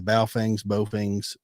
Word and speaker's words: Baofeng: Some of those things, like those, I'll probably mispronounce it. The Baofengs, the radio.